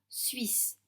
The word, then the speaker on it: Suisse: Attention au mot suisse. Le UI ne se prononce pas UI, mais UI, très vite.